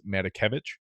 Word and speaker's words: Matakevich: We did see Tyler I believe it's Matakevich is how you pronounce it.